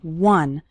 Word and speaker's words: one: finishing one short activity the word one starts with a w sound okay some students pronounce it like on but that's not correct it's one one short activity and